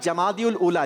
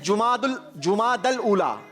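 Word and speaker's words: جمادى الأولى: इन्होंने कहा जमादिउल उला। जमाद नहीं कहते, इसकी सही प्रोनाउंसिएशन है जुमादल उला।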